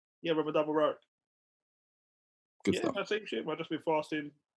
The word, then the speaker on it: Ramadan Mubarak: Mo, Ramadan Mubarak. Hey, man. Thank you, sir. Did I say it right? Fasting. What? Did I say it right? Yeah, Ramadan Mubarak.